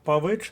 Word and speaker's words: Павич: на третьому складі а Павич наголос на другому складі та й назва місяця